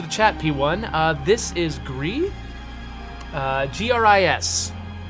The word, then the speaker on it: GRIS: I'm saying GRIS because that's how I learned how to pronounce it in French class. Actually, I should probably say GRIS if it's the French word.